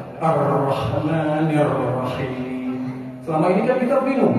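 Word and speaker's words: الرحمن الرحيم: di al-fatihah arrahmanirrahim perhatikan ro yang lagi di di di sisi lain yang bacanya arrahmanirrahim rnya biasa aja tu yang bertasdid benar mana Bu Yang pertama apa yang kedua Bu yang yang pertama yang kedua jadi yang enggak boleh yang enggak boleh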